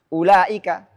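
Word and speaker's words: أولئك: Contohnya ulaika. Ada ulaika. Ini ada tanda bulat di sini. Ulaika. Maka wawnya tidak boleh baca enggak boleh dipanjangin. Baik dalam kondisi wasal ataupun waqaf.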